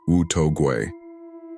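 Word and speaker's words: 无头鬼: The headless ghost, pronounced Wu To Gui.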